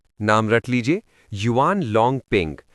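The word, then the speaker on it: Yuan Longping: नाम रट लीजिए युवान लॉन्ग पिंग spelling Y ए यू ए एन एल ओ एन जी पी आई एन जी।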